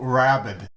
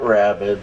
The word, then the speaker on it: Wrabek: I've been introducing your music under the banner of Wrabek. No, not Rabid. That was the dog.